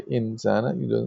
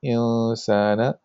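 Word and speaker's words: الإنسان: So you don't say insana. You say insana lafi khusr.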